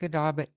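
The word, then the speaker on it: Musquodoboit Harbour: word harbor RCMP um muscadabi is that how it's pronounced musk Muskadabit Muskadabit. Okay. So, Muskadabit Harbor.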